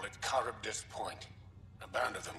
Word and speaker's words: Charybdis: Let's check out this Charybdis Point. It's not Charybdis, it's pronounced Charybdis. It's from Greek mythology.